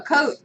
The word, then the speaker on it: Cote: Cote, C-O-T-E. Oh, Cote.